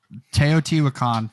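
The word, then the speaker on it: Teotihuacan: two plays it is so awesome yeah I toot wakan for pronunciation if you're going to look up this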